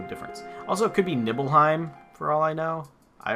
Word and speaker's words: Nibelheim: Also, it could be Nibelheim for all I know. I always said Nibelheim. It just looks like it's a long I sound, but so Mako Reactor all the way up in the Nibelheim Mountains.